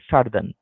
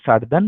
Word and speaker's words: Southern: তো নর্দার্ন অ্যান্ড সার্দার্ন hemisphere, ঠিক আছে তো? যেমন করে আমরা বলি নর্দার্ন তেমনি সার্দার্ন হেমিস্ফিয়ার। যদিও ওয়ার্ডটা উচ্চারণ হচ্ছে সাউথ আর্ন, কিন্তু সাউথটা এখানে একটু সাইলেন্ট থাকে।